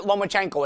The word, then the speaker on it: Lomachenko: and Paulie guys guys everybody at home just pronounce it lomachenko it's like a pet peeve I have people